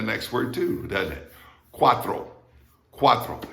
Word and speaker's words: cuatro: word too doesn't it cuatro cuatro it's not cuatro it's cuatro all right that tr is like a thr in english just like a thr in english okay people say well